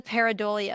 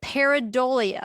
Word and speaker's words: pareidolia: This is called the paridolia effect. And this is kind of a big word, so I'm going to say it twice so that you can feel comfortable with the pronunciation. The paridolia effect is when people see patterns, inadimate objects